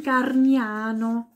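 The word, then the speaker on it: Gargnano: mir schreiben ja okay genauso wie das Städtchen garniano am Gardasee garniano dann gibt es ein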